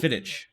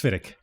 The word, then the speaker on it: Glenfiddich: It's So- not Fiddich. Right, it's Fiddick. Okay. Glenfiddich. Well, I'm just ICCH and I instantly go ch. yeah, Fiddich. it's just one of those weird things. Like, Yeah. they spell it with the CH, but when they pronounce it, it's Fiddick.